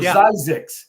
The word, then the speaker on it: Zzyzx: I always laughed at the exit, and you know this, John, Zyzzyx or Zyzzyx, as the way it's actually pronounced.